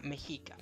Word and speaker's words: Mexica: creo que se llamaba mexica mexica Perdón mexica con una x mexica creo que se llama mejica el Imperio Azteca y esta x se pronuncia como una J bien marcada J como una G